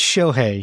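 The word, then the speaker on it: Shohei: It's Shoi.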